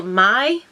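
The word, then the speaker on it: Mai: Lashes in the style My. I think you say it like My, M-A-I. I would say My, so we're going with My.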